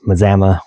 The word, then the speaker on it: Mazama: Mazama um sounds like Alabama according to Lion at Lion's Den.